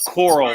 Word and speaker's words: Coral: last name so uh Coral like coral reef core okay uh do